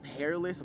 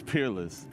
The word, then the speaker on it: Peerless: said say it right they like peress I'm like where did you see an a it's Peerless I guess you can